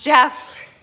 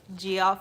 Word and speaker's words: GIF: yeah so how expensive you forgot the G is pronounced Jeff you're right oh my gosh you're right g off is not g off it's Jeff and my mind cannot